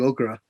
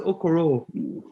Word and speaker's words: Okoro: If we don't get 2 games, Isaac Okoro. That's the Isaac Okra. Okra. No, it's not Okra. It's Okoro. No, I was talking about is that the vegetable?